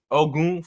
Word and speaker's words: Ogun: osama we got ogu i didn't say ogun i said cause that guy's nigerian you know nigerian you gotta pronounce it right oh goon from fire four season